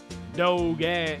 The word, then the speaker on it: dogie: i always read doggy it's pronounced doge dog i don't know